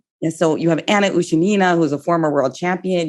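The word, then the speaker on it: Ushenina: music sisters you have anna ushinina sorry i mispronounced her name ushanina yes so you have anna ushinina who's a former world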